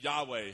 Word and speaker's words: Yahweh: In Hebrew, it didn't have vowels, so it would be really hard to pronounce. But it's the name Yahweh.